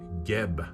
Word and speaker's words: Geb: This is Geb, I believe it's pronounced, G-E-B.